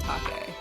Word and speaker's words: Take: official Pokemon artwork done by artists Kenugori and Take. It's not taped, by the way.